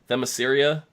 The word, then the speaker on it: Themyscira: I cannot pronounce this for my life, so I'm going to just try and butcher it. Themyscira.